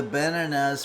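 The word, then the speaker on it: banane: They don't do the final nah.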